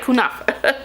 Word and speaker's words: Kunafa: powders I use the colors cinnamon bun and kunafa I never pronounced that right let me see oh I got it right kunafa so I like to use both of these